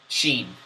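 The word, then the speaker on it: شين: is our next letter Xin XI there is pronounced from the tongue and is very similar to the SH sound or the SH sound and the following words in the English language shoot ship shame shed shut Xin and warmup number 9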